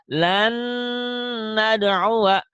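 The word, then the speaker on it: لن ندعو: Cuman bedanya kalau ini setelah diidghamkan ada ditahannya, ada dengungnya. Lan nad'uwa, lan nad'uwa, ada dengungnya, ada ditahannya gitu.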